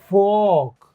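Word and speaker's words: folk: of this इ word फॉक य जो ओ है का साउंड देगा फॉक फ ओ क फॉक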